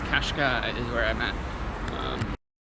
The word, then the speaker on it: Cascais: During lunch, I figured out it is pronounced Qashqai. C A S C A I S. Yeah. So, it's Qashqai is where I'm at. Um, well, Grandma, we finished up in Caravos from Kashkai.